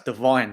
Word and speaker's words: Devine: Oh, it's Devine. That's what it is. Devine, you pronounce it. Well, that's how the commentators are saying anyway.